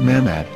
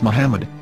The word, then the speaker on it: Muhammad: yehuda's Hebrew English dictionary it is correctly pronounced as Muhammad not mammad so how we're going to know for sure if it's pronounced as Muhammad the Muslim Prophet or